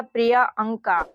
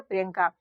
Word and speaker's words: प्रियंका: का अब देखिए बच्चों अगर हम लोग इस नाम में बाई के बाद में ए लगा देते अगर आप लोग इस शब्द का उच्चारण करते यहां पर ए लगाते तो ये हो जाता प्रिय अंका तो यंग का ये कोई भी नाम या आप लोगों को कोई यह शब्द सुनने में अच्छा लग रहा है प्रियंका नहीं तो यहां पर देखिए इसका सही उच्चारण क्या हो जाएगा प्रियंका अगर आप लोग कंफ्यूज